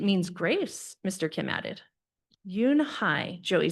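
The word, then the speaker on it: Unhei: Your name is Yunhi? He asked her with his eyes open wide. Yunhai looked quickly at Mr. Kim and then turned to Joey. She nodded slowly and said yes, but it's pronounced Yunhai.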